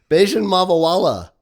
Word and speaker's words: Bajun Mavawalla: Beijian Mavala. I did say that right. Yes, you did say it.